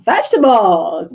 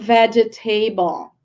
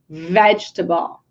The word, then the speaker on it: vegetable: vocab lesson guys this is a lot of vegetables yay well I couldn't start this lesson before helping you all with the pronunciation I often hear some people are just